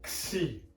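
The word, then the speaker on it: ξ: And that is pronounced as x, like as if you're putting a K sound and an S sound together, like so. A K and an S sound make the X sound.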